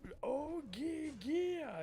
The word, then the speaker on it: Oia: It's Oia. And ever since then I remember what it's spelled.